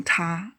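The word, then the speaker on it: 他: Both male ta and the female ta can be used as the subjects as well as objects in the sentence.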